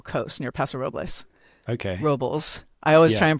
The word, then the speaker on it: Robles: Robles. I always Yeah. try and pronounce it Spanish.